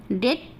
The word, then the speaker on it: debt: अगर किसी वर्ड में बी टी के पहले आता है तो वहाँ भी बी साइलेंट होता है।